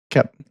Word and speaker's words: Koepp: Sorry, Koepp. Yeah. Not quote. Koepp.